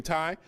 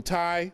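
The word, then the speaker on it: Tiye: This is Queen Tai, or T.A. Some people pronounce it Queen T, T-I-Y-E.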